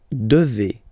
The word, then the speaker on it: devez: And then, vous devez. Remember, classic ending for vous here, EZ, but then you pronounce this combination of two letters, E, devez, devez, vous devez.